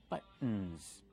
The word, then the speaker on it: buttons: buttons remember the pronunciation use the stop T but and then go to the end buttons these are buttons they're